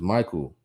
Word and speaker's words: Michael: He says Michael is how you pronounce it.